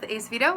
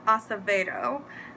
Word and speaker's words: Acevedo: I also realized that I think I've heard her last name pronounced Acevedo before, not Acevedo. I'm a New Yorker, so you know, we always have those weird words that we say, but I'm pretty sure it's Acevedo.